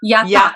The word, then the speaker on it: Yata: Yata, yata. The Yata. accent is on the second. Yata, yata. Now I have a question, Elena.